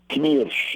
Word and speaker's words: Knirsch: It's pronounced Knirsch in German.